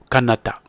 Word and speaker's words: Kanata: ces autochtones vont donc prononcer le mot katana, le mot Kanata, Kanata avec K, K-N-A-T-A.